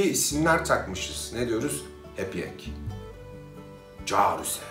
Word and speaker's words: Cihar ü se: Carüse. Aslında Ciharüse'dir ama Carüse diye okunur. Onu dilimiz yuvarlar.